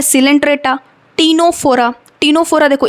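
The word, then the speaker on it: Ctenophora: है सिलेंट्र टीनो फोरा टीनो फोरा देखो ये भी सी से ही स्टार्ट होता है लेकिन यहां पे सी साइलेंट होता है ठीक है ना इसलिए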